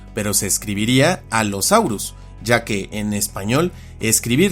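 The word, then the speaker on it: Allosaurus: Las grafías con consonantes dobles como doble L y doble C se pronuncian también de forma doble, una vez en una sílaba y otra en la siguiente y en general toda doble consonante. Así este nombre se pronuncia alosaurus, pero se escribiría alosaurus,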